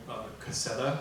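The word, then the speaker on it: Caséta: example Lutron makes a product line called cassetta I think it's pronounced they're more or less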